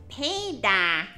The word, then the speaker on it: Peter: You're not really gonna pronounce the T because it's not very strong. So it's more of a D. It's Peter, Peter.